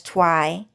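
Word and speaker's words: Thoai: So his Vietnamese name is Twi and that the movie Twilight just simply reminds them of Twi if you guys get it.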